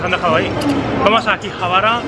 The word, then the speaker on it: Akihabara: Ya hemos llegado aquí a Akihabara, porque lo pronuncian así.